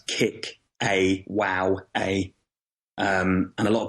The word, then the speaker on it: Kickawowa: that's you sort of you sort of spell it as you say it so it's kick awow a um and a lot